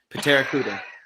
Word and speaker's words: Pteracuda: I think you supposed to pronounce the P, Patrick. Pteracuda.